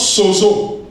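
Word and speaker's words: σῴζω: Sauvé en grec se prononce sozo.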